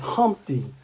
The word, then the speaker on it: Humpty: let me introduce myself my name is humpty pronounced with the umpty and old ladies oh